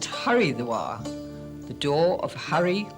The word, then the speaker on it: Haridwar: well as those of hardwar just 24 kilometers away soon becomes a voyage of architectural discovery many of these were old mansions built in a more spacious age should really be pronounced haridwar the door of Harry